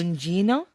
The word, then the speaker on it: Gugino: Gugino? She's not. It's not Hispanic. It's Italian. It's Italian. So you have to pronounce the G.